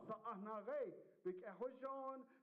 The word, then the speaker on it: Sa'ahnare: Sa, ah, na, re, Sa'ahnare.